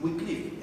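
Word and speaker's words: Wycliffe: Había un hombre, este hombre se llamaba Juan Wikliff, no se pronuncia así, se escribe su apellido así. Wicliff era un hombre inglés, a él le llamaban el el lucero del amanecer.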